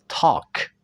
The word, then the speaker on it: talk: Atau ada di ejaan A dan L, talk, walk, L-nya kita hilangkan suaranya.